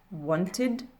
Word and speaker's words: wanted: Et en fin de dernière colonne, mon ED va se prononcer id, donc ce qui va donner painted, wanted, recorded.